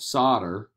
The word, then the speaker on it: solder: they had to use it's called solder but it's spelled solder they would have to